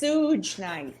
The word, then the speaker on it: Suge Knight: Like, It's pronounced Suge Night.